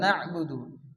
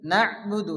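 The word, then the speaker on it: نعبد: ইয়াওমিদ্দিন মালিকি ইয়াওমিদ্দিন এরপরে কি আছে ইয়াকা নাবুদু এখানে ইয়ার উপরে কি আছে আলিফ আলিফ মাদ্দা ইয়া আলিফ জবর ইয়া এখানে এক আলিফ টান দিয়ে পড়তে হবে ইয়াকা না এখানে কিন্তু আইন আছে নাহবুদু নাহ না অনেকে আছে নাবুদু পড়ে এখানে আইন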